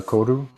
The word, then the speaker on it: koru: Yeah, the koru.